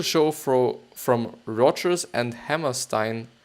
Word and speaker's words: Hammerstein: fro from Rodgers and Hammerstein or Hammerstein actually or Hammerstein if it would be pronounced in German that enjoyed nearly instant